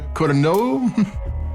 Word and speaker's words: Codorniu: And we've got the Anna di Codorniu Cava Brut Rosé. I could have made the name wrong. Codorniu. It's Catalonian.